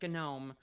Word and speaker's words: GNOME: Like some people are on Gnome and yes, it's pronounced Gnome. Um because it comes from GNU.